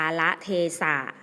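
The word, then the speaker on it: กาลเทศะ: ละ เทศะ อ่าน ว่า กาละเทสะ กาละเทศะ อ่าน ว่า กาละเทสะ กาละเทศะ หมาย ถึง เวลา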